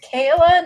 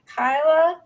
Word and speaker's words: Kayla: Am I mispronouncing that too? It's Kayla, not Kyla.